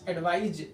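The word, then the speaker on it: advise: अब यहाँ देखना, अगर हम इन दोनों शब्दों को यूज करें, यानी अगर इस एडवाइस स और इसमें एडवाइज जो का उच्चारण आ रहा है, ये उच्चारण में भी ध्यान रखेंगे।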